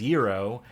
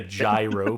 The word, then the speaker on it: gyro: to order them and we pronounced it as Euro and they did not know what the we were talking about we don't I don't know what a euro is we don't have it and I had to just like can I get a gyro please can